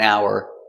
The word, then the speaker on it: hour: 1 hour, 2 hours. Hour, the H is silent. And we say hour. No h sound.